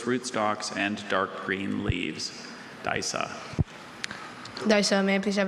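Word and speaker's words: Disa: Daisa.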